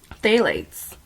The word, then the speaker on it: phthalates: It's, it smells good, but it also contains a chemical called phthalates. It's spelled PHTHALATS.